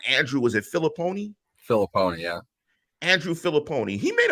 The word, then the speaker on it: Filipponi: I don't want to rip the guy and pronounce his name wrong. Andrew, was it Filipponi? Filipponi, yeah.